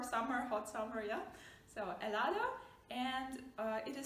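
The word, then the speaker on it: helado: h yeah but uh make sure you don't pronounce it remember please it is a silent letter okay so for example you have the word elado ice cream which is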